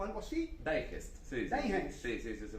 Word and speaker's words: Digest: Digest, sí, Digest. sí, se pronuncia muy como se lee, Digest.